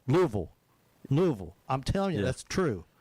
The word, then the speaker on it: Louisville: It's kind of like, how do you say Louisville or Louisville? I say Louisville. I say 3 syllables. People from there, they say 2 syllables. Louisville.